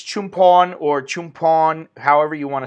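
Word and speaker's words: Chumphon: an R, and so some people say Chumpon, but it basically, because of the language, what do you call it, the way the language works is in some places like an L is pronounced an N, an R is pronounced an N. It depends, but this is Definitely Chumpon, not Chumporn.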